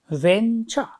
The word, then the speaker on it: venture: B form for p let's count the syllables Venture Venture is it h does it have just two syllables yes it has two syllables where does the stress fall stress false on the first syel next word we have